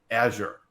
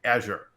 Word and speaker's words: Azure: But there is a correct pronunciation, and it is Azure. So if you go to Google and you type in, how do you pronounce Azure? It's going to say Azure.